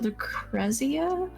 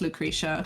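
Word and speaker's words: Lucrecia: appreciate it I think I think it's pronounced Lucretia because they said her name in durge of Cerberus yeah oh my God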